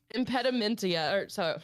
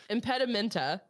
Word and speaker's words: impedimenta: So, impedimentia, I keep wanting to put extra letters in everything. Impedimenta. I like Ia way more than. I actually want to pronounce it impedimentia. Yeah. But there's not an I at the end there.